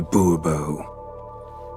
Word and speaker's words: Bourbeau: Monsieur de Bourbeau. The emphasis falls on the last syllable.